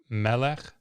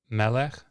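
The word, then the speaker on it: מֶלֶךְ: Segolate nouns are characterized by the pattern with the accent on the first syllable. So a word that we see all the time that follows this pattern is melech, melech.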